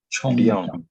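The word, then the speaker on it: 沖涼: 총령. 영 아니고 령. 총령.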